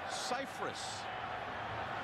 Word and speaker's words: Cypress: Actually, all these years, everyone's pronounced his last name incorrectly. It's Cypress.